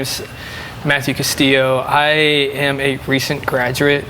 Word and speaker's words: Castillo: Today we are joined with Matthew Castillo, or that's how you say it? Castillo. Yeah. Castillo, yeah, okay.